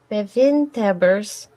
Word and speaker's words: bewindhebbers: Please excuse my Dutch pronunciation. The two classes were bevindhebbers.